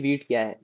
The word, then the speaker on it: Vite: So actually instead of we will be using a beat which is spelled as vit. So actually wheat wheat think of as an like I have opened this uh documentation for the wheat.